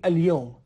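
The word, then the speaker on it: ليوم: توی زبان فصیح دوستان میگیم الیوم، ولی خب توی لهجه عراقی و کلا حالا لهجه‌های مختلف به صورت همین لیوم تلفظ میشه.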